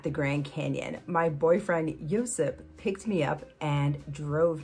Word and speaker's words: Josip: My boyfriend, Josip, Josip would be the Croatian pronunciation, drove me to the Grand Canyon and joined me on this little mini weekend vacation.